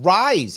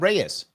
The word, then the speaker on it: Reye: Rick is Oh, it's pronounced rise. It's not pronounced reyes.